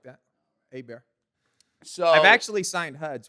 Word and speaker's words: Hebert: Ebert is that how e how do we pronounce it we bear a bear a bear Alexander AAR so we'll edit that part no edits needed we like that a bear so I've actually signed Huds with an r